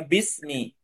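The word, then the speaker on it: بسم: dengan seksama Bi Ismi ini ada ada alifnya nya ya biismi cuma dibacanya Bismi Bi Ismi biismi dengan Ismi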